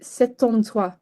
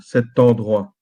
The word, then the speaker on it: cet endroit: the past, but um it's called liaison, so you have to say cet endroit. Yeah. Oh. I think so. That that thing, yeah. So you have to connect it cuz yeah. Wow. Yeah, you have to connect the the T of cet and the E of endroit, cet endroit.